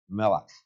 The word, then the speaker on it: Melech: You see the word Michael, but that it would actually have been pronounced by the Hebrews as Melech.